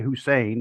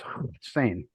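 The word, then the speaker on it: Hossein: Of course, we always say Hussein because we see that's the way it's spelled. Hmm. And he said it was actually pronounced Hussein.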